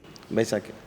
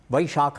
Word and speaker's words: ವೈಶಾಖಿ: ಛತ್ ಪೂಜಾ ಚಂದ್ರಶೇಖರ್ ಬೈಶಾಖಿ ವೈಶಾಖಿ ಛತ್ ಪೂಜಾ ವೈಶಾಖಿ ವೈಶಾಖಿ ಸರಿಯಾದ ಉತ್ತರ ವೈಶಾಖ ಮಾಸದಲ್ಲಿ ಬರುವ ವೈಶಾಖಿ ಅನ್ನೋ ಉಚ್ಚಾರಣೆ ಏನಿದೆ ಅದು ವ ಬ ಆಗಿ ಪರಿವರ್ತನೆಯಾಗಿ ಅದು ವೈಶಾಖಿ ಅನ್ನೋ ಹೆಸರನ್ನ ಗಳಿಸಿದೆ ಚಂದ್ರಶೇಖರ್ ರವರಿಗೆ ರಾಮಾಯಣದ ಅಂತರಂಗ